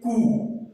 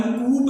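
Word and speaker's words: coup: Example है इसके कू, तो ये खाली कू है, कूप नहीं है, ये क्या है? कू, इसका मतलब होता है तख्ता पलट करना, तो ये कूप ना होकर इसकी सही प्रोनाउंसिएशन क्या है? कू, तो P यहां पर साइलेंट है।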